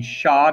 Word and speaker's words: Xia: its first dynasty is the shah dynasty xia i know it doesn't look like it'd be pronounced that way one of the most